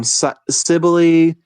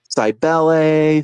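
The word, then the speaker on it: Cybele: talk about is, um, Sibili, Sibel, Sibel. There's a lot of different ways you could pronounce it. I'm going to say Sibeli because that's just how I know it.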